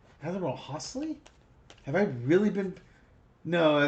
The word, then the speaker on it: Holsey: I keep saying Hollyy and I think that's because I know of a World War II uh commander named Hollyy and it's Ho Hosley. I don't know. Hosley.